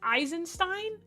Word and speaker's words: Eisenstein: It's Eisenstein. Is it not Einstein? Nah, that's stupid. What do you mean it's Eisen Eisenstein? Nah, they nah.